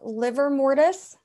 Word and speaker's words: livor mortis: would not be adequate so we have liver mortis notice it's not liver spelled like the organ rigor mortise and algor